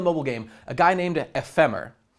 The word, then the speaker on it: Ephemer: You see a guy who you can recognize from the mobile game, a guy named EPHEMER. It's like ephemera, but there's no A at the end.